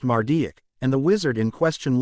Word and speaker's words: Marduk: Babylonian Pantheon of gods Harry asked it is pronounced mardic and The Wizard in question later inspired said